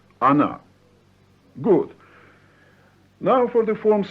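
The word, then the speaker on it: она: speaks is another so she is an right pronounce Ana good now for the forms of the plural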